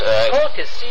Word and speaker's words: Colchis: It's Colchis, Colchis.